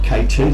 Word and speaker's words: KT: It's been interesting, she calls KC, but she likes to be called KT, so we'll change what we're saying, so we'll pronounce it KT, that's her nickname, KT.